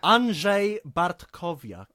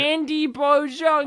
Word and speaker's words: Andrzej Bartkowiak: Andrzej Bartkowiak. Ooh, very good. Okay. So I've been has pronouncing that a- wrong for my entire What?